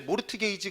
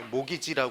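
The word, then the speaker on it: mortgage: 얘를 합치면 합치면 합치면 얘를 모르트 게이지 그러면 정말 없어 보이는 겁니다 이티가 무음입니다 무음이라 건 무기라고 소리를내는 겁니까 소리를 안내는 겁니까 아 소리를 안내는 거지 소리를 안내는 거 그래서 얘를 읽어서 뭐라고 읽는다 모가지 예 모기지 합니다 모기지 그래서이 모기지가 바로 뭐냐면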